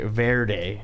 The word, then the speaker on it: verde: Well, I didn't want to say it verde. That's how you say it.